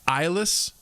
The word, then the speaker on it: Ilis: Like sort of close to Ireland. Gotcha. So it's like I'm without eyes, aka eyeless. I can't see because I'm eyeless. Got that R in there as well. Ireless.